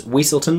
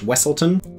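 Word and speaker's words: Weselton: Richard Frame as Weaselton slash Wesselton. Choose your own adventure, pronounce how you want, I don't even mind.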